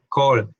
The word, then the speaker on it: call: estas tenemos to call hay una regla que dice que la a con la l una a antes de una l se convierte en ol para pronunciar por eso se dice call mail hay una regla